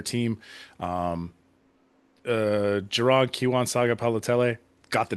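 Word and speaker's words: Sagapolutele: Um uh Geron Kiwan Saga Palotell. Got the name all the way right. Got all the syllables on it too.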